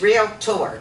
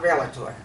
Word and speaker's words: realtor: him all the time it's real tour two syllables not relator when i was president